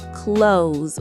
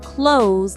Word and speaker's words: close: And pronunciation tip, when you say close family, make sure to pronounce close like close with an s sound, not close like to close the door.